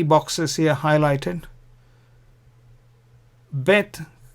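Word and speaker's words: ב: If there is no dot, this is vet. If there is a dot, it's bet.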